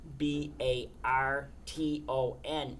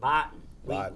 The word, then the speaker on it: Barton: It's like for example the the word the town name B A R T O N is any sane person. It's Barton. But we pronounce it Botan.